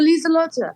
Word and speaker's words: Liselotte: Is that how you pronounce her name? Oh, Liselotte.